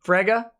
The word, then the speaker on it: Fraga: is my final pitch fraga rhymes with sega okay well i'm saying